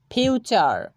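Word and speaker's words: future: ফিউচার, ফিউচার।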